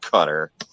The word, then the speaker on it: Qatar: they call it cutter it's spelled qatar but i think they pronounce it cutter so if i can